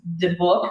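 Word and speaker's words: dybbuk: It's debuk, I think, is how it's pronounced."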